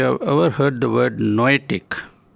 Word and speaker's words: noetic: I wonder if you have ever heard the word noetic. It is spelt n o e t i c and it rhymes with the word poetic that we all are familiar with.